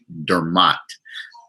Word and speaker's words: Dermot: me except certain people i'll correct them and say no it's dermat and i make them